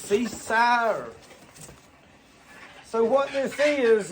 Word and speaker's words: Seesii: I think you pronounce this Seesii. So what this is, it's Seesii.